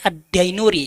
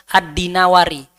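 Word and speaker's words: Ad-Dinawari: Biasanya para kiai bacanya Addainuri ya. Yang benar Adinawari karena suatu kota di Mesir namanya kota dinawar.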